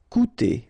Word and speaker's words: coûter: Okay, keep in mind that even if you've got this accent circumflex on the top of U, it doesn't change the pronunciation, so it doesn't change this combination of two vowels here, so it will be OU, okay?